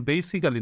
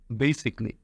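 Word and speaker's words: basically: double L উচ্চারণ করবে না শুধু এল ওই উচ্চারণ করবে যেমন বেসিক্যালি না বলে বেসিকলি ট্রেজিক্যালি না বলে ট্রেজিকলি ওকে যাই হোক বলছিলাম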